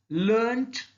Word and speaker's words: learnt: Learn, learnt, learnt. Here also R is silent.